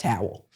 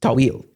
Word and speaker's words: Tawil: to say it is toil like a little bit of the back of the throat yeah there's no way